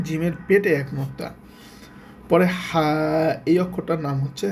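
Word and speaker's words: ح: পরে হা, এই অক্ষরটার নাম হচ্ছে হা। উচ্চারণটা ভালো করে খেয়াল করেন, একদম গলার মধ্য থেকে হা, সুন্দর করে।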